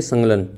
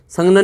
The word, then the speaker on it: संगलन: संगलन कहते हैं। संघलन नहीं कहते। संघलन अलग है और संलन अलग है। तो थोड़ा सा इसमें अंतर है। इसको उच्चारण में थोड़ा सा ध्यान रखें। जिसको ठोस का द्रव में ये गलन होता है।